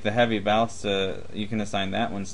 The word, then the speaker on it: ballista: Well, you can assign this one, like the Heavy Ballista, you can assign that one's damage first. What's a and then ballista? Ballista. You put the wrong emphasis on the wrong, Wrong syllable.